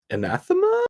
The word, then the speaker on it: anathema: This is another question that is not on there, but is kind of bouncing off of like anathema. Yeah, that's how you pronounce that.